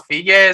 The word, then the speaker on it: Fiege: So thank you for spelling the Fiege, and it's not Fiege as I said, it's Fiege.